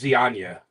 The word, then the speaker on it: Zyanya: It's spelled Zyana. I'm sorry,Zyanya, but it's pronounced Zianya. Zianya. Yeah. Even though you might say Anya. Yeah. There's 100 ways you can say it, but the proper pronunciation is Zianya.